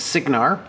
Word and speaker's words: Cygnar: The proper pronunciation is Cygnar, but that's always just stuck with me, and